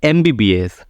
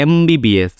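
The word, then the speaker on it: MBBS: crate answer क्या आएगा इसमें वर्ड देखिए एमबीबीएस तो स्टार्ट हो रहा है एम से लेकिन इसका प्रोनाउंस देखिए क्या साउंड आ रहा है ए का साउंड आ रहा है एमबीबीएस तो ए का साउंड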